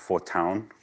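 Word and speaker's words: Fortuin: So, F is, it looks in English like fortune, but I've been told it's pronounced fortown.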